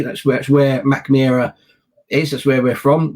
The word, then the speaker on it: Mackmyra: original one was, in a place called Mackmyra, or if you pronounce it as they might do in Sweden, Mackmyra.